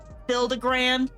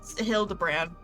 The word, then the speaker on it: Hildibrand: Hildigrand. It's Hildabbrand.